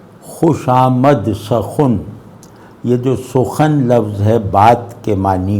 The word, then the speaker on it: سخن: آمد سخن۔ یہ جو سخن لفظ ہے بات کے معنی میں، اس کا اوریجنل تلفظ سخن تھا۔ تو شہ پر منشرہ